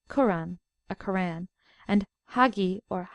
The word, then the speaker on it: Quran: in al-hijaz generally is the pronouncing of K Arabic a hard G for instance guran for kurran a Quan and Hagi